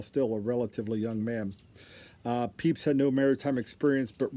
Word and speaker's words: Pepys: Samuel Pepys, and it's spelled P-E-P-Y-S.